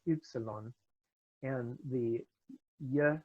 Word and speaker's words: ye: the past few years you should call it yeah rather than eg I got and the